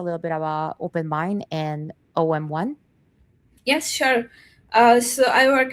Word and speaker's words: OM1: So you're gonna be talking to us about OM1, and is it pronounced OM1?